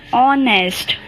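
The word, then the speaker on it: honest: and ice cream and ऑनेस्ट ह है यहां पर देखिए लेकिन हम क्या ऑनेस्ट बोलते नहीं ह साइलेंट है ऑनेस्ट बोलते तो एंड का साउंड ए रहा है अब यूनिवर्सिटी क्या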